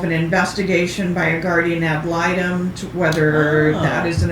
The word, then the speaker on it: ad litem: Ad litem.